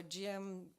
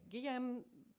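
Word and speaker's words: Guillaume: the rare metals war gm um sorry guillerm pitron he's my french pronunciation translated by bianca jacobson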